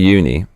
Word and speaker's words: uni: your face before opening it what is uni pronounce oi not un uni uni is the Japanese word for sein covered